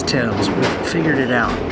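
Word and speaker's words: Thames: we were like it's tames tames river tames river like every video it's Tims we figured it out the H is there but the a is pronounced e Tims gotcha anyway we're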